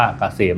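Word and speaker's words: KSCM: แอด นำ หน้า นะ K SCM อ่าน ว่า เกษม นะ ครับ สำหรับ ท่าน ที่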